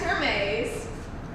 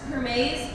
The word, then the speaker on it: Hermes: That's Hermes. Huh. Like the designer scarves, Hermes, it's spelled H-E-R-M-E-S, so. Oh, Hermes, like the Greek god. it's Hermes in this case.